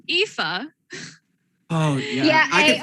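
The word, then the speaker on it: Aoife: other child uh well uh it's it's pronounced ifa oh yeah i o e f e yeah very good celtic name nice we've had a friend who played an ifa once it's a great name it's pronounced eva that's that's a traditional irish name right yeah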